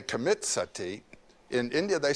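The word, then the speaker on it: सती: You know the word sati? In Sanskrit, it's spelled s a t i, long i.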